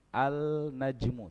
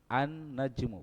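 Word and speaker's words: النجم: ketika masuk alif lam bacanya bukan alnajmu tapi annajmu berarti Nun Ini huruf apa ini huruf Syamsiah di sini dia tempatnya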